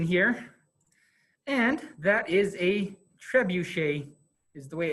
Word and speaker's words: trebuchet: the little screen here and that is a trebuchet is the way it's pronounced I just I just call it trebus